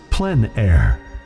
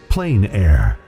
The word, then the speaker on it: plein air: which means open air or outdoors the French pronounce it plenn air others say plein air no matter how you say it there is